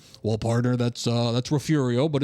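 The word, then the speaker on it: Refugio: Uh, and it's the Rafiurio Bobcats, but it's with a G. And so I pronounce it refugeio on the air to a statewide audience.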